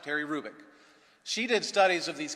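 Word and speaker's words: Hrubec: you h-r-u-b-e-c Terry kubick the H is not pronounced Terry Rubik she did studies of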